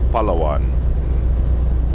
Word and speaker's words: Palawan: gonna stop over in Palawan Island it's actually pronounced follow-on or palawan yeah it's